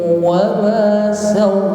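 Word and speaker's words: وما سواها: Waw yang kedua ini tidak boleh berdengung, namun hanya ditekan saja. Wa nafsin wa ma sawwaha.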